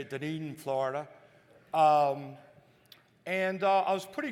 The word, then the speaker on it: Dunedin: So that's how you say it, Dunedin, Florida.